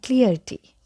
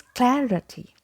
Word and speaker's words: clarity: this word from Clear it's not clearity okay and I've seen that people some of them pronounce it like Clarity but again it's not pronounced the way it is spelled it is neither Clarity nor Clarity the correct pronunciation is Clarity Clarity I'll tell you